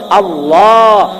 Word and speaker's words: আল্লাহ: আবার উচ্চারণ করতে গেলে আল্লাহ। উচ্চারণ করতে গেলে ঠুট না লাগাইয়াও করন যায়। আল্লাহ আল্লাহ কিন্তু রসুলের নামটা আল্লাহ এমন রাখা রাখছে